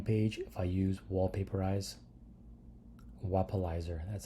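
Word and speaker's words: Wappalyzer: If I use Wallpaperize, Wapalizer, that's how you say it, Wapalizer.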